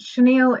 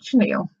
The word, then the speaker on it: chenille: way I can describe it really nice but chenille is spelt CH e n I double le and you will come across this if you ever wondered what it's called okay that's called chenille the next one I struggled with it was